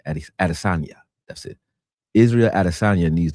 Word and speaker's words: Adesanya: He said Israel Adansia Adesanya. I don't know how to say his name. Adesanya.